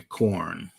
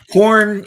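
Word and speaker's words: Khorne: Corn is a funny name for a funny god, but it's spelled different. So, it's not corn.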